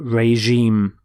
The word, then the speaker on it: regime: But regime. Notice the pronunciation of the G is the J sound, regime.